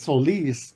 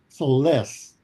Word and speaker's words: Solis: Because I did a wedding one time and it was Solis, but no, we want it pronounced Soles.